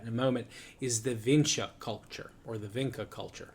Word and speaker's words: Vinča: There's an accent over the C, so I believe it's Vinča. Or Vinca, excuse me, or Vinča, excuse me. That's the one I think is the correct pronunciation.